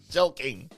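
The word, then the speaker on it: jelqing: e l q something jelquing jel jel King jelking just pronounce it like a k but it's a q I understand it's Tik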